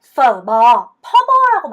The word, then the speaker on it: bò: "bo" 가 아니라 " bò" 입니다 . "Bé", "bò" 라고 발음 하는 것 이 맞습니다 . 이렇게 해야 합니다 . 이해 했다 ? 한국식 으로 하지 마세요 .